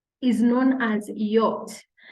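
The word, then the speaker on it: Jot: J is known as yacht the name of this letter in German is not J rather it is yacht and just like its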